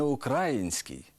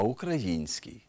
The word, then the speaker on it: український: у яких найбільше помиляєтесь не український а український не Україна а Україна не 11 14 а